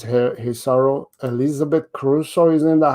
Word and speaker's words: Saro: i understand you know many people they call me cerro soro seri cerro it's sorrow so so it's weird